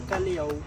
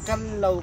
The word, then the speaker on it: Callao: Yung second pronunciation nila which is yung Callao. Callao po is Spanish word po yun ang ibig sabihin. Peaceful or quiet place po siya. Yung correct pronunciation natin it's Calao Cave po. Calao. Cal tsaka Lao po.